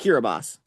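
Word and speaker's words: Kiribati: The other one is Kiraabas. I know. By the way, uh, for everyone watching, that country that's spelled Kiraabati, it's pronounced Kiraabas.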